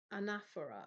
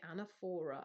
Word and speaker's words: anaphora: of poetry, it is called anaphora, or some people say anaphora. I say anaphora, but who cares how you say it?